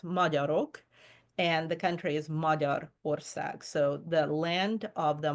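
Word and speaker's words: Magyarország: And so it's spelled with a G-Y, but a G that is followed by a Y in Hungarian becomes a D. So it's not Magyar ország, it's Magyar ország.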